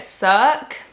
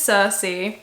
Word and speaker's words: Circe: I've been saying, like, calling it Cirque for a very long time, and I cannot believe no one's told me I've been saying it wrong.